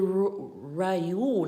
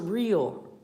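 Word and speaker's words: Riu: Yes, it's a luxurious suite at the Ryu, not Rio. Ryu is R-I-U, and it is spelled that way and pronounced that very same way.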